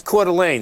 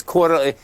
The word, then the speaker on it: Coeur d'Alene: No, it's Coir Mining. It's Coir, CDE. Oh. That's Coeur d'Alene, CDE. Yeah. Okay. We're pronouncing it differently, but this is the same stock. It's Coeur d'Alene.